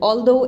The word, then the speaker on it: although: So these are the words, for example, although, in which G is not pronounced, H is not pronounced.